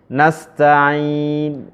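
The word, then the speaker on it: نَسْتَعِين: Nasta'in misalnya ya. Nasta'in. Jadi nu-nya dibaca.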